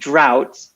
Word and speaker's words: drought: So it's drought, just like you say, the opposite of in, out, drought.